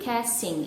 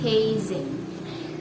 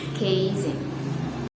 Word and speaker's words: casing: because it is so much easier to say casting instead casting i mean instead of casing and